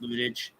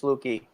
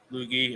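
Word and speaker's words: Luetge: All right, so you got Loizaga, Trevino, Tyon, Clark Schmidt, Herman, Ludic, whatever you say his name, Lucas Ludic. Lucas Lukey. Lukey, okay.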